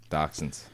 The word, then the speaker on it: dachshund: problem common to dachshunds mmm said it right dachshunds what was being treated by a veterinarian that's